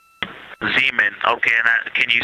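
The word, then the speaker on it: Zeeman: We believe that that is Zemen Crater. Zean. Okay. And can you say the first letter? I may be pronouncing that wrong.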